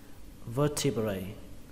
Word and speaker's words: vertebrae: Đối với đốt sống số ít thì các bạn đọc là vertebra, vertebra, vertebra. Số nhiều là vertebrae, vertebrae.